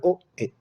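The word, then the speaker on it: 大江: El apellido es Oe. ¿Ah? ¿Ya? Es súper fácil de recordar, Oe, con acento en la E, Oe.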